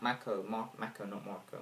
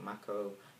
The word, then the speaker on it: Mako: She played Mako, not Marco. Mako. I think, yeah.